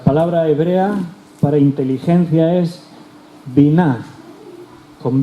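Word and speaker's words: בינה: La palabra hebrea para inteligencia es biná, con B de Barcelona. Biná, acento en la A al final.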